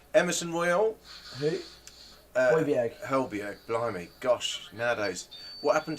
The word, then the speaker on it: Højbjerg: God, I'm not really good with my pronunciation tonight, Rodrigo Bentancur, thank you. Pierre-Emile Hejbjerg. Is that right? Emerson Royal. Who? Højbjerg, blimey.